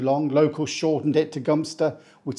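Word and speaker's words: Gloucester: you're the first one it's not pronounced how it's spelled it's pronounced gster don't know why I guess cuz it's too long local shortened it to gster which sounds like a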